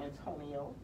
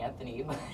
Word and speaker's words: Antonio: to say hello San Antonio millionaire are you from San Antonio they call me aunt Oh sometimes and then they get my name wrong and call me Anthony Oh Antonio Antonio he's 13 years